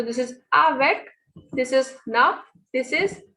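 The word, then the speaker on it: neuf: So this is avec, this is nuff, this is seal. So whenever a word ends with C, F, or L, it is pronounced completely.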